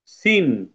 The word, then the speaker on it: scene: সুবহানা 3 নম্বরটা দেখো, এই যে 3 নম্বর এটা, সিন। সিন, SCENE, সিন। এখানে কোনটা লেটার সাইলেন্ট হয়েছে বলো তো? বলো কোনটা সাইলেন্ট হয়েছে। হ্যাঁ বলো। C. সি সাইলেন্ট হয়েছে, থ্যাংক ইউ।